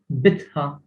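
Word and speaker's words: bitħa: And also sometimes the B is pronounced as P when it is followed by certain consonants, not all consonants. So you would say bitha, which means like courtyard or as yard maybe.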